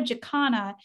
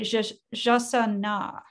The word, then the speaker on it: jacana: It's not a jacana, it's a jasana.